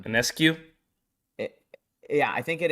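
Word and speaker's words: Ionescu: it with my buddies it's not ionis here that's not how you pronounce it it's um anescue it yeah I think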